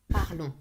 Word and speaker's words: parlons: Final ONS. Remember that as well. Final ONS. Nous always. parlons. I can hear like very weird things with the nous. Nous parlons. Nous parlons. ONS. Always. Nasal sound.